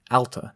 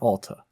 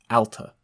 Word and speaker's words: Alta: Alta, Not Ahl-ta. Alta.